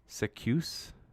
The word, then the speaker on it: Zacuse: Literally the letter Z in the word goose, but a C instead of G. So I guess it must be Zacuse.